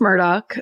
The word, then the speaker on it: Murdaugh: The Murdaugh family? Yes. Murdaughs? Yes. Murdaugh. It's pronounced Murdoch, I learned.